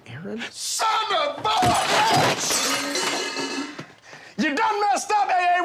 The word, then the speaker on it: Aaron: you say it the first time i said ay-ay-ron because it's pronounced Aaron you done messed up ay-ay ron now take